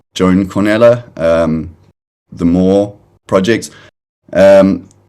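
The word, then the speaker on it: Joan Cornellà: think like the i think it's pronounced he's pronounced joan cornella um the more project um that he released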